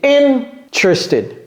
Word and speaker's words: interested: C'est donc, on met l'accent sur la première syllabe. Ok? Ce n'est pas sur la deuxième, ce n'est pas sur la troisième ni la quatrième. Ici, c'est interested.